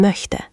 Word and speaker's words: möchte: अपने होंठों को ऐसे गोल करो जैसे सीटी बजा रहे हो। Möchte.